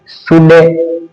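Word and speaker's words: should: Cooled नहीं पढ़ेंगे इसको, इसको शुल्ड नहीं पढ़ेंगे, इसको वुड नहीं पढ़ेंगे। इसमें एल साइलेंट रहता है, इस सभी में क्या करना है, एल को रखना है साइलेंट, यानी कुड शुड वुड।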